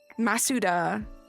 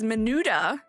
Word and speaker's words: Masuda: How is it pronounced? Masuda? Masuda. Ah, okay. You thought it was Menuda?